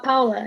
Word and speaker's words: Paola: say your name wrong payola is that how you say your name or is it do you pronounce it differently uh no uh paola it's like yeah sorry um how